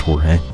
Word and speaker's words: Jorge: It's actually pronounced Jorge.